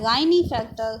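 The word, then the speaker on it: Klinefelter: First जो type है वो है गाइनी फैक्टर सिंड्रोम, के यहाँ पे साइलेंट है, इसको हम गाइनी फैक्टर सिंड्रोम कहते हैं।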